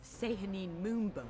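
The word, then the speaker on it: Sehanine Moonbow: foolish miscreants you stand before a cleric of say honeymoon bow say her name that's how you pronounce it okay so it's a little annoying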